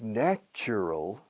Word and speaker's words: natural: Ahora, el adjetivo, natural, la cambia. No ne. Natural. It's natural for Mother Nature to be angry.